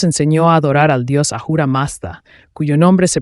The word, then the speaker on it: Ahura Mazda: dorado él nos enseñó a adorar al dios ahura masta cuyo nombre se pronuncia ahora ormu comiéndose las letras y esto significa fuego dije